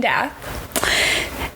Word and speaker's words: Dath: happens to be Zane Dath. Is that how we decided to say it? I think it's Dath, yeah. Okay. That's how they say it in the audiobook.